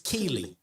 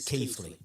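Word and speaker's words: Keighley: People sick of it being referred to as Keley. And yes, I know that local pronunciation might be a little bit different, but officially it's Keithley.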